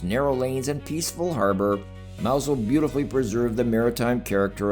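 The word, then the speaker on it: Mousehole: Pronounced Mousel, its name comes from the Cornish words mouse,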